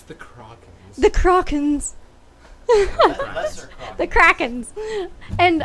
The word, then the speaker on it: Krakens: Am I pronouncing that properly? It's the Krakens.